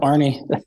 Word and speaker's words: Arnie: forward with your, and how do you say Arnie? Is it Ann? Yep. Okay. Nope, Arnie.